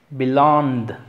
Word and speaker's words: belonged: Belonged, belonged. Este se acentúa long.